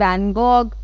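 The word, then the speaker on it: van Gogh: अब जहाँ पर वन ऑफ दी बहुत ज़्यादा फेमस आर्ट वर्क है ये, ठीक है, बाय विंसेंट वैन गॉग, और वॉग भी बोल सकते हो, डिफरेंट प्रोनाउंसिएशंस हैं इसकी।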